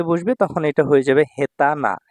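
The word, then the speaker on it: 下手な: তখন এটা হয়ে যাবে হেতানা হেতানা এটা না এডজেক্টিভ অদক্ষ দেখুন এখানে আমি স্টার চিহ্ন দিয়ে দিয়েছি মানে এটার কাঞ্জি শব্দের উচ্চারণের সাথে মিলবে না এটা ফিক্সড যোজনা হেতানা এখানে তে বাজু তে বাজু কোথাও কিন্তু বসেনি ঠিক আছে ভাইয়া এই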